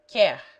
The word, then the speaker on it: quer: But before E and I, the U is used with the Q only for the purpose of producing or preserving the K sound, and is therefore not heard. Quer.